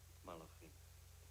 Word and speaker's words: Malachim: Kadoshim, the holy ones, and How do you pronounce that? Malachim. Thank you, Rabbi. Malachim, the messengers.